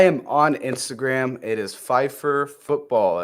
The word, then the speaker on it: Phifer: Pfeiffer Football, all one word. It's like Michelle Pfeiffer, the actress. Right? She spells it differently, but yes, pronounced the same.